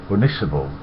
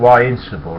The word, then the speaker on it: Ynysybwl: I said, "It's pronounced Unisable. YNYSYBWL in Welsh is pronounced Unisable." He says, "No, it's fucking not. It's Insible."